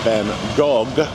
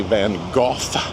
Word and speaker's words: Van Gogh: Anyway, so our guide being French does say Van Go and the more traditional pronunciation. Well, actually I think the in the UK area they say Van Go. The Dutch I cannot get close to the Dutch probably.